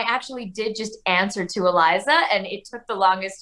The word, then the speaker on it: Aliza: It's Aliza Vellani, who plays Ronnie. Aliza, how you doing? Good, good. It's Aliza, by the way. It is Aliza.